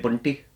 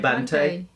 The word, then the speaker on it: Bantai: Yeah, people were saying that we were pronouncing his surname wrong. Really? They were saying, I think they were saying we were saying calling him Emiway Bunty. No. Where is it? Emiway Bantai.